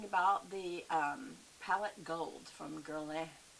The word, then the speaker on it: Guerlain: Okay, so we are talking about the palette gold from Guerlain. Guerlain is how they say it, but most people say Guerlain, so I'll just say Guerlain.